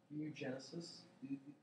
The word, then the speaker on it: oogenesis: Oogenesis? Yeah. Is it, how do you pronounce that?